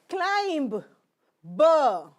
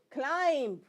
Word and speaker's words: climb: are using climb no its pronunciation is climb why if there is a letter M and after letter M fine so it is not climb it is climb and the B will be removed climb the mountain we do